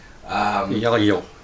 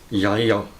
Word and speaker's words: Ylo: Andromedan with us, Ylo, which is a Americanization of his name, which is too hard for any of us to pronounce. Ylo. That's how you do it? Yes. One more time. Ylo.